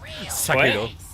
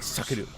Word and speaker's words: Sekiro: See, I was thinking more, it kind of reminded me of Sekiro. Yeah, I was but gonna say. Oh, for fuck's sake! You did not really call it just like that, did you? Sekiro.